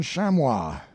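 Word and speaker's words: chamois: a spyglass it is our american shamwa i believe that is the way the word is pronounced i don't know with enormous horns inhabiting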